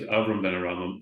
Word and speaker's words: Avraham ben HaRambam: before we get to all the writings, what is Sufism, and why is Avraham ben HaRambam associated with Sufism, if I'm pronouncing it right even?